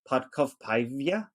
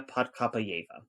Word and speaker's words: Podkopayeva: independent nation uh gymnast lilia podcov paivia i think that's how you say it podca sorry yeah lilia padkapayeva she was the all-around champion